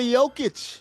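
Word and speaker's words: Jokić: Number two, Nicola Yokic. They don't go hard J with the J's in in the Serbian language.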